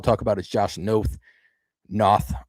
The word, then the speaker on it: Noth: Noth, I believe is actually how it's pronounced.